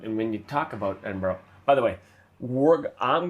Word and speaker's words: Edinburgh: So, Edinburgh is what we're going with. And because we've been told by Scottish people that's how to say it.